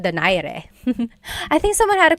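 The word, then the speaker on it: Donaire: So, our first poll here is going to be Mani Pacquiao versus Nonito Daire or is in in the Tagalog uh pronunciation. Nonito Dire.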